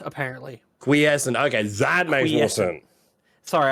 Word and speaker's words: quiescent: or whoever I'm pointing out it's also called quis essent it's the state of a state and period